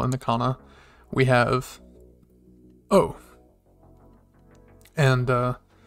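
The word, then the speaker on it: お: the kana we have oh and uh it's pronounced like you're saying o or o or in original uh and if you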